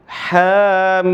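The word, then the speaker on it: حم: Jadi bagaimana membacanya? Hamim, gitu kan?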